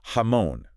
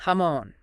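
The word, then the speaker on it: jamón: ham the best but it's not pronounced like uh like jam yeah not like Jam at all right it's hamon with that nice emphasis on the M hamon yeah you got it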